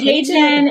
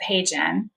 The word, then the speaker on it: HeyGen: Yeah, so HeyGen, spell it. What is it? HeyGen.